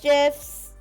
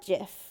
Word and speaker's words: GIF: I call it GIF with a J.